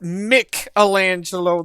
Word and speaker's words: Michelangelo: It is Michelangelo. Wait a minute. Are you saying we've all been saying that name wrong this whole time? Teenage Mutant Ninja Turtles got it wrong. It's it was pronounced Michelangelo the whole time.